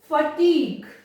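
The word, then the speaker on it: fatigue: टंग, dialogue, ऐसा ना टंग यू ऐसा नहीं प्रोनाउंस किया जाता है, वो ग प्रोनाउंस होगा। टंग, डायलॉग, फटीग, बड़ा डिफिकल्ट सा रहता है बच्चों के लिए।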